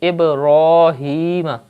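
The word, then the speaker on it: إبراهيم: The word is Ibrahim. You can see the letter ra has khada zabar on it, so you have to pronounce it with thick tone.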